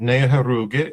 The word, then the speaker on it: Neoheroka: I know where We all know where Fort Neoheroka was. How do I How do I do on that, Dwayne? Did I pronounce it okay? Very good. Ne ah Her roo gay is how we say it, but that's that's extremely